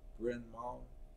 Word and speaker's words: Bryn Mawr: But yeah, it's Bryn Mawr.